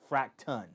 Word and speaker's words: Fracton: So it's Fracton, fracton. So I'm not mispronouncing fractions.